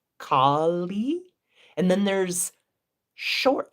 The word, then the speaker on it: Kālī: There's Kali, long A, long I, Kali.